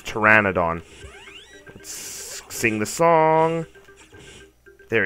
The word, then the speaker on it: Pteranodon: I always thought it was Pteranodon, but apparently it's Pteranodon.